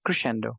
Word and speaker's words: Crescendo: guys sent me Crescendo Crescendo how do you pronounce that? Crescendo.